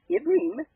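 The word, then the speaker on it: עברים: Pronounced Ibrim, Hebrews chapter 1.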